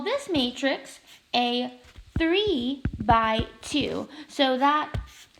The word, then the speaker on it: by: this matrix a three by two so that X here we just call it a bi which is pronounce it as by so with three by